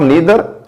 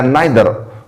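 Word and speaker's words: neither: इसी तरह जो नीदर है इसे आप नीदर या नाइदर दोनों तरीकों से प्रोनाउंस कर सकते हो।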